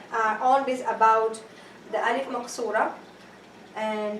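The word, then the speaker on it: مقصورة: But for now, all this about the Alif Maqsurah, and don't say Maksurah, it is Qaf, Maqsurah.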